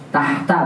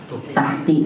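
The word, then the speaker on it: تحت: Tahta bukan dibaca tahti, kecuali kalau ada huruf jar.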